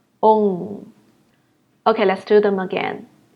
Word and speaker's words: ong: And for the last one, try to pronounce the first letter O, and then add the sound, ong, ong.